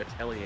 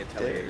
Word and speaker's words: Atelier: Meanwhile, all I'm waiting for is to get my hands on the new Atelier game. Atelier? That good old classic. That's how you pronounce it?